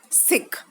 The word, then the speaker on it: Sikh: Children, it is written here Sikh, S-I-K-H, Sikh. The pronunciation is Sikh.